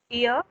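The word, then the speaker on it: ihr: here, that R is silent here.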